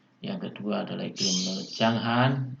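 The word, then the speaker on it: Junghuhn: Yang kedua adalah iklim menurut Changhan, atau bacanya Changhan ya, tulisannya Junghun tapi bacanya Changhan.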